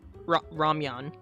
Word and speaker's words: ramyeon: me to describe it, but the Korean ramen is ramyeon.